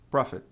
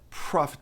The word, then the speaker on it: profit: Prophet não é, não é prophet, é profet. Tem aquele puff de a, né? Um leve a depois do o profet.